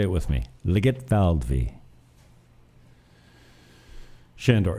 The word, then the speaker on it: Ligetfalvy: Ligetfalvy. Say it with me. Ligetfalvy. Sandor. It's spelt Sandor, but it's Sandor.